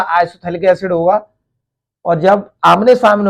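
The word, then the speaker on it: आइसोफ्थैलिक एसिड: इसका जो दूसरा नाम है, कॉमन नेम कह देंगे इसे isophthalic एसिड। Isophthalic एसिड, isophthalic एसिड, pH silent होगा जैसे ये थैलिक है।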